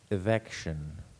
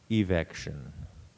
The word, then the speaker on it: evection: It has two pronunciations I'll give you. The word is evection or evection.